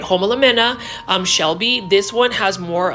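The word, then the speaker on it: Homalomena: Homolamena Shelby.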